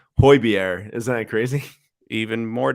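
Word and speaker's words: Højbjerg: until I watched there but it's pronounced hoibiere isn't that crazy even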